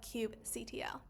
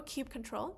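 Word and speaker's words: kubectl: And our last question, what is the main function of cube ctl or cube control, cube cuddle, those are different ways you can pronounce it.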